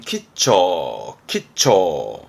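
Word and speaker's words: 吉兆: 발음은 키처.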